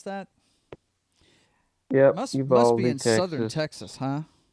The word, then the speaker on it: Uvalde: Is that how you pronounce that? Yep, Must be Uvalde, in southern Texas.